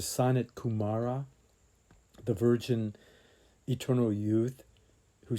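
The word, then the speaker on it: Sanat Kumara: and Michael, she says you should pronounce it as a sonnet Kumara, the virgin eternal youth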